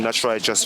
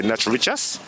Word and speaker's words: Knatch Rychus: It is spelled K N A T C H R Y C H U S. Knatch Rychus. Vivo on YouTube. And for all the other platforms, it's Knatch Rychus.